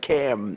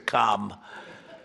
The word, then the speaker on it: Kamala: Cam as opposed to Com.